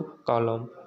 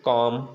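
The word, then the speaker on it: calm: यल कब साइलेंट होगा? जब यम के पहले आता है तब। जैसे बहुत लोग क्या पढ़ेंगे इसको? कॉलम, मॉलम, प्लॉम, ठीक ना, एलिमेंट। तो यहाँ पर हम क्या पढ़ेंगे? कॉम, बाम, पाम, ठीक है ना, ये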